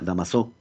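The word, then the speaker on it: Damoiseau: damas de au pair se pronuncia dámaso la línea de dámaso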